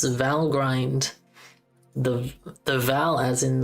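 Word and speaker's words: Valgrind: How do you pronounce vow grind? The the vow as in the word value and grind is pronounced with a short I dash dash i e.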